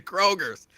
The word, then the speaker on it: Kroger: red Road next to Kroger's okay I'm gonna help you I'm gonna help you but first it's not Kroger's there's no s on Kroger's and it's railroad now